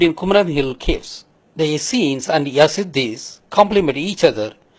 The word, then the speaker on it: Essenes: just to compare the acds with the easternese pronounced as essenes who lived at kumaran hills that is murugan